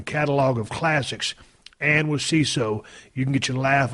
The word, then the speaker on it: Seeso: are going to love CISO. CISO, you spell it like this, SEESO.